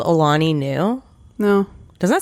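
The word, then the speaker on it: Alani Nu: It's called Alani New. No. Doesn't that sound like a woman's name? How do you spell that?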